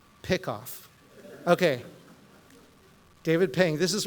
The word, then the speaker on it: PICKOF: So I'm going to pronounce this PICKOFF.